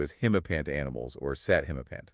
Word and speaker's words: himapant: In general, these mythical creatures are referred to as himapant animals or sat himapant. That's P-A-N-T, like the trousers.